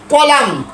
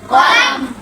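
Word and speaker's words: column: এল ইউ এম এল ইউ এন এন এন কলাম কলাম মূলত কলামুন হওয়ার কথা ছিল কলামুন না হয়ে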